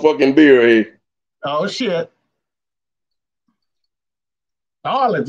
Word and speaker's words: New Orleans: Narlands, you gotta say Narlands.